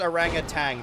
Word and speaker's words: orangutan: Also, it is Orangutan. There's specifically a G in there.